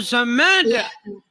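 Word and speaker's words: ṣamad: Qul huwallahu ahad, Allahu somad. Dimarah saya. Dimarah. Bacanya bukan begitu. Coba Bang artinya Bang. Bacanya harus begini. Qul huwallahu ahad, Allahu samad, lam yalid wa lam yulad wa lam yakul lahu kufuwan ahad.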